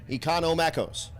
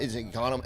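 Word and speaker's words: Economakos: to say my name Econo makos it's not that eono okay got it done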